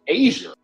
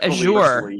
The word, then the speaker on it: Azure: somebody once said they referred to Azure as Asia I always like the Azure like this yeah I like the Azure like the soup the soup du jour azure